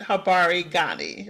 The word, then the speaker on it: Habari gani: Habari Gani, right? That's the correct way to say it.